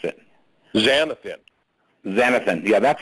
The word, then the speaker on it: xanthan: It's a derivative from green plants, and it's xanthian or something. I'm not sure how you pronounced it. Xanthan.